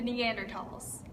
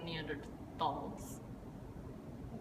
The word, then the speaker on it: Neanderthal: was discovered in Germany the pronunciation results in the H being dropped so it's just pronounced T thus Meander tall yeah